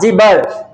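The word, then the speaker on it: gibber: बी बी आर जीबर जब हम उच्चारण बोलेंगे तो ज पर स्ट्रेस कम देंगे छोटी इ की मात्रा आएगी क्या आएगी छोटी इ की मात्रा आएगी बड़ी ई की मात्रा नहीं आएगी स्ट्रेस नहीं देंगे जिबर जिबर माने वर्ड्स दैट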